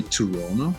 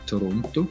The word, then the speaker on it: Toronto: toronto yeah you say toronto and with swiss germans we say toronto toronto i pronounce the t toronto they don't say that over there though yeah tirana yo i'm